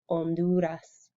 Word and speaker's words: Honduras: el salvador um honduras is silent the h in spanish is silent so then we forget the h is there and we say so